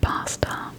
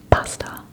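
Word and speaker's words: basta: It's spelled B A S T A pasta.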